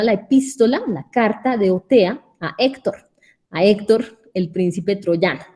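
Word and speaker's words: Othéa: Y Otea, que en realidad es Otea, porque se pronuncia en francés, Otea, es una diosa que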